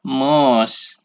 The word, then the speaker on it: mouse: satu tangan yaitu namanya apa iya betul Mouse dibacanya adalah Mouse nah lalu yang kelima ini ada dua ya